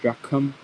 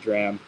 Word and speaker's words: drachm: Some people pronounce it with an aspirated k, like dracum, and then some people pronounce it dram. Much easier for me to say dram.